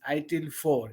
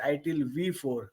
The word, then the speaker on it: ITIL 4: It is pronounced as ITIL 4. It is not pronounced as ITIL V4.